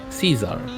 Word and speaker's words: Caesar: Say C and then say Z. Caesar. That's the way. Is exactly the way you pronounce that.